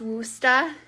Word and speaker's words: Worcestershire: It's pronounced Worcester.